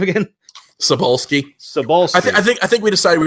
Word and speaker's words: Cebulski: Cebulski.